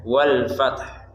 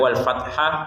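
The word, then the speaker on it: والفتح: Nah, tapi karena di sini di tengah-tengahnya adalah huruf ta, maka dibacanya wal fath. Ada hak di belakangnya, tapi tidak wal fathah atau wal fatah, tapi wal fath.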